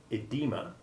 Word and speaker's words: edema: that reason are frequently mispronounced as though the initial e was short e1 the oe spelling still holds on however in our old friend diarrhea also in enology the study of wine in medical terms like edema and in greek names like oedipus phoebus and phoebe they remember that the